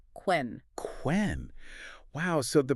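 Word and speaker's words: cwen: In Old English, that was spelled C-W-E-N, quen.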